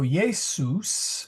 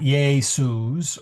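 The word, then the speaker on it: Iesus: S is always as inset and loose. It is never like the Z in lose. Uh so you will so yus is yus. It's not yay suz or yay zeus or any other of those z combinations.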